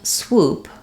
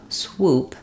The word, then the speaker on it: swoop: as well um again when I'm saying swoop swoop um I really just want to make sure that my w sound doesn't drop and that my oo stays tightly pursed and rounded woo swoo swoop swoop